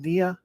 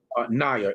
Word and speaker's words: Naya: Make sure, and is it, how do you say it, Nia or Naya? Naya, NY''A.